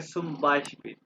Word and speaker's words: zum Beispiel: आगे मैं कहूँ ना फॉर एग्जांपल यानी कि सुम बाइशपिल for example zum सुम Beispiel बाइशपिल for example zum Beispiel for example zum Beispiel